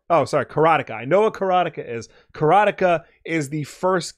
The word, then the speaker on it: Karateka: it's the game called karateca carotica carotica It's pronounced carotica carotica okay and then okay okay I understand